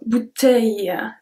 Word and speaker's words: bouteille: we have LL, so bouteille, aille. Je remplis ma bouteille d'eau. Je remplis ma bouteille d'eau. Try really to focus on the length of the word when I pronounce it. Bouteille.